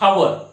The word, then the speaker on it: hour: सारखं होत नाही because we pronounce like a o not h. Example here not you use not hour you pronounce like a hour.